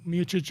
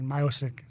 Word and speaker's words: Miocic: And we just figured out that that's the correct pronunciation. English way. Miocic is in Croatian. Miocic.